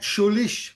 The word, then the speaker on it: Scheurich: With the co-director, Schulish. Hopefully, I said that right. How How good was I on a scale of pronouncing your last name?